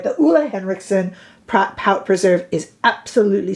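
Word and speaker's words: Ole Henriksen: cheap I'm just saying affordable for highend the Ule let me say it right the Ole henriksson PR pout preserve is absolutely stupendous in this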